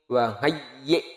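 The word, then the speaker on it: وَهَيِّئْ: Auzi'ni wa hayyi' lana. Oke. Auzi'ni wa hayyi' lana. Hamzah ini ya kalau mati kayak tertahan. Wa hayyi'. Seperti itu cara bacain ya.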